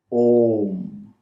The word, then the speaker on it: Om: we begin to vibrate Om. Yes, in the Sanskrit grammar, when you put A next to U, it becomes the sound O.